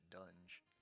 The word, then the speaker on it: Dunge: I keep saying Dungy because that's what it looks like to me, but they pronounce it Dunge.